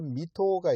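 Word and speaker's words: 水戸: 이 도쿄 보다 좀 더 위쪽에 도시 이름 중에 하나가 미토가 있습니다. 미토. 한자로 어떻게 쓰냐면 물 숫자에다가 토는 이제 가가 호호할 때 그렇게 쓰고 이걸 읽기는 미토라고 해요. 그러니까 물 숫자를 미라고 읽은 거죠.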